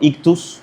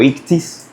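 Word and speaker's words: ichthys: Ya luego lo usamos como ictus o ictis o ictis, depende de la pronunciación, obviamente, pero esas letras son siglas, o sea, cada letra significa algo.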